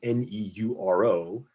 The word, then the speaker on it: neuro: And then putting that together, you have to recognize that N-E-U-R-O is pronounced neuro in English.